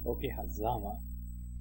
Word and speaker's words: Okehazama: Okehazama. The accent is on the za.